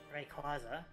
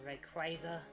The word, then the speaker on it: Rayquaza: And then there's Rayquaza. So there's Rayquaza or Rayquaza. It's definitely not Rayquaza. But isn't there something with like Quasar? Or like Yeah, Quasar's like a space thing.